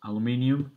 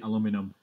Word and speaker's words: aluminium: that it's british british the word is aluminium and americans say aluminum but the reason i